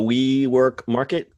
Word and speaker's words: WeMRKT: So WeMRKT, it's spelled, it's actually we, and then all in capitals MRKT, because that's how people like to spell things now. Market. WeMRKT. WeMRKT.